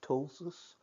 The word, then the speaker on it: ptosis: at the beginning or silent P or at the beginning like ptosis spelled PT OS is means falling down or eight for ptosis kind of so or